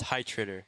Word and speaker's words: Heitritter: It's pronounced Heitritter.